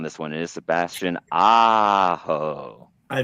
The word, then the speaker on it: Aho: It is Sebastian Aho.